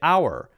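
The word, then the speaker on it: hour: We cut out the H sound. And we say our, our and herb. For example, H-O-U-R and H-E-R-B. We use the same rule for both of those.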